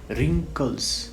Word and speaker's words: wrinkles: तो इसमें रिंकल्स है, WRINKLES, रिंकल्स, इसको ऐसे हम करेंगे, प्रोनाउंसिएशन जो है उसका ऐसे होगा, रिंकल्स।